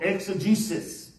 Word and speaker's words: exegesis: as you write it down first of all exegesis that word is spelled e-x-e-g-e-s-i-s exegesis e x e g